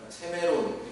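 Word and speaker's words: σήμερον: 오늘날 이렇게 번역된 이 헬라어는 세메론 이렇게 발음한다고 해요.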